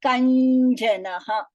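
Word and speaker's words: कञ्जनः: The nya and the ja underneath. Here also it is the same nya and the ja. So kanjanaha. Kanjanaha. This is how you pronounce this word.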